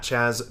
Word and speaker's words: Chaz: Again, follow Chaz at Chaz.